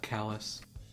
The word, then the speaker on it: Calais: got calais which yes it's spelled kawaii like the city in france but in maine it's called kalas for some reason oh